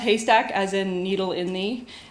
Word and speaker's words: HASTAC: intro to hurting nerds um so hyack is pronounced hastac as in Needle in the um and uh